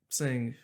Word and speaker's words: Singh: Sing. Sing? Oh, Yeah. S-I-N-G with the silent H at the Silent end? H, yes.